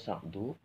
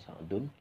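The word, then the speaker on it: سعدُ: Kemudian pas sa'du itu dibacanya sa'du bukan sa'dun.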